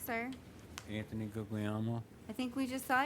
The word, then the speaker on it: Guglielmo: the way it sounded how do you say it again Guglielmo Guglielmo okay Guglielmo an Italian is go yellow ooh YUM yes your honor